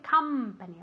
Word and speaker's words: company: Cuidado con la pronunciación de company, ¿ok? Como si fuera una A, no una O.